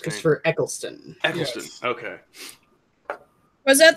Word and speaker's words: Eccleston: I can't pronounce his fucking last name. Christopher Eccleston.